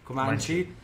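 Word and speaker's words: Comanche: Che quando mi hanno detto ammazza questo villaggio di donne, come si pronuncia? Comanci.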